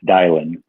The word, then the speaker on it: Dylan: of your first name it's dialing dialing like you sounds like you're dialing a clone dial and I apologize